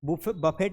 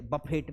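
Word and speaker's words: buffet: बफेट है। बफेट तुम आ जाओ सब लोग। तो हम एक के कार्ड पे 25 लोग जाते थे बफेट में।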